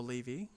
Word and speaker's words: Levi: Chuck was played by Zack Levi um or Levy depending on your pronunciation um some people may